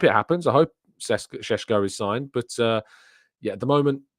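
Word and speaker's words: Šeško: an offer made to cesco shesko sorry I should uh pronounced it better than that shesko of course has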